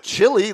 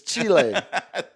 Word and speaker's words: Chile: Well, it's not chili like the food you eat. You are a Texan, sir. You're a proud northern Texan. Chile is how you say. It's Chile.